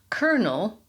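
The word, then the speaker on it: colonel: Then there's kernel. C O L O N E L, which for historic reasons is pronounced exactly like one of those little yellow things on an ear of corn, kernel.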